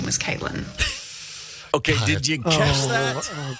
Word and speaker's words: CVIIILYN: I really feel like that would be pronounced civilian. So he goes out into the waiting room and he's like, civilian, nothing.